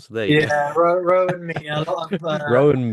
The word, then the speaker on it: Rohan: All I've right, been go I've yeah, been going Rohan. I think I said Maya as well at the start. So there you go. yeah. Rowan, me, a lot of Rowan Mia.